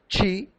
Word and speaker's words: qi: It is pronounced in English qi, that circulates through 12 invisible energy lines known as meridians on the body.